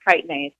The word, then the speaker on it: chitinase: this enzyme called chitinase, which is spelled with a CH, like chitinase, but it's pronounced chitinase, for those who have not really seen that in writing anywhere.